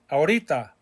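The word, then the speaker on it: ahorita: el futuro right now aurita remember the h is silent aurita this morning every other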